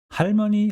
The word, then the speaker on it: 할머니: 할머니, 할 has a 받침 jaum, so it is pronounced with L sound, 할.